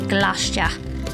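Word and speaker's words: Gloucester: quick hop from provincetown to glacia as the locals say again i repeat if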